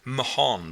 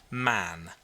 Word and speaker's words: Mahon: He had a Roman nose, a snow-white, long beard, and his name was Mahon, but he insisted that it should be pronounced Mann.